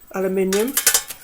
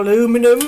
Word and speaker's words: aluminium: Shovel, I presume that's aluminium. Or aluminum, as some people call it, don't they? It's pronounced differently elsewhere. Aluminium we say over here.